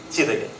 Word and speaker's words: Jidege: It's spelled as j-i-d-e-g-e. Well it is pronounced as 'Chi'. 'Chidege' And it's just like